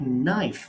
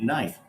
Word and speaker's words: knife: in kn words like knife knife actually comes from the german and that's why the k is silent knife not knapsack why do we have the silent k because of the german influence so these are very